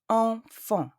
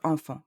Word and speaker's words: enfant: E, N, and A-N produce the sound en. The T and the S in the word enfant are silent. Don't say enfants, say enfant.